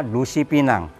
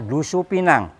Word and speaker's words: dusupina: Yang benar adalah Dusu Pinang. Du itu buruk, supina itu mimpi. Jadi mimpi buruk Dusupina, bukan Dusipina.